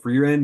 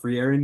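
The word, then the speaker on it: Frieren: pause real quick yo supposedly it's called free Ren not free Arin bro I was getting flamed in the comments bro last what's it called it's free Ren not free Arin oh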